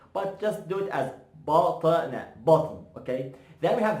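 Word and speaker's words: بطن: You know, if you pronounce it, you know, in a slow motion, it's gonna be like BaTn. BaTn. BaTn. But if you're gonna say it fast, you're gonna go like BaTn.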